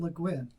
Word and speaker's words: Le Guin: I always pronounced it Le Guin.